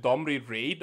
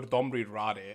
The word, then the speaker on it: Domri Rade: I either pronounce it Domri Raid or Domri Rade, and I've never pronounced it Rod.